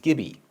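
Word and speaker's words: gibi: m i and gi pronounced kibi maybe and gibby which sounds kind of dumb but at least it's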